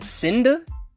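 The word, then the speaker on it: Seda: I'm gonna say John Cena, but it's John Cinda, I think is how you pronounce his name.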